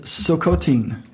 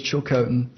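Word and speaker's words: Tsilhqot'in: that the the nation is chilcotin t-s-i-l-h-q-o-t-i-n they pronounce it silcotin the white man says chilcotin they have been turned then why are you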